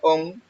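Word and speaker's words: ὤν: La palabra siendo es la G5607, se pronuncia on, y quiere decir ser, cuando era, el cual es, ser, tener.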